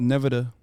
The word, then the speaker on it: Nevada: It's called Nevada.